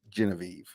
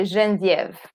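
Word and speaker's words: Geneviève: is just the the genevieve is just the english pronunciation um so in french we would say genesive right i love like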